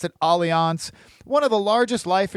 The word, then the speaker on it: Allianz: Allianz, or some people call it Alliance, but I've always pronounced it Allianz, one of the largest life insurance companies in the world, headquartered overseas.